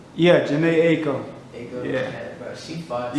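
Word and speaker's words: Jhené Aiko: I hope I'm not pronouncing this wrong, but is it Janae Unko? Yeah, Janae Aiko.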